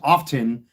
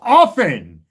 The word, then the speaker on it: often: The proper term in proper English for you idiots that use the word often and pronounce it often accenting the T. It's pronounced often. The T is silent brainless uneducated.